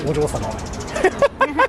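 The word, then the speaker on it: お嬢様: So the way how you say it, that's Ojo-sama.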